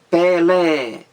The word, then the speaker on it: Pelé: sílaba no mínimo duas quando eu digo por exemplo pelé pelé duas sílabas e esse é aí o segundo é pelé é mais forte então isso aí